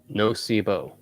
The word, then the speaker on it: nocebo: everybody's welcome up nocebo okay thank you that's the way it's pronounced placebo says the opposite of placebo that's interesting i had